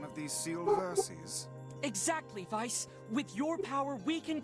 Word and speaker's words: Weiss: there a character in Ruby called Vice hey Vice was just some old Legend I know it's spelled we I SS but it's pronounced Vice and so I will